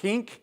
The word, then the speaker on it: Genk: We've opened a new cross-dock in Genk, which is on the bottom right-hand corner. It's quite interesting. We have two locations in Belgium. One's Genk, and one, or they pronounce it as Henk and Hent.